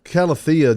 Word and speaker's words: calathea: don't know i can't calathea just doesn't roll off for me and i don't know i like how it sounds you need to add a little bit of thea calathea they're weak so that's how